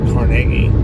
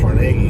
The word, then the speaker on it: Carnegie: but we're approaching a city called carage PA or it caragi I used pronouncing it Carnegie but War more here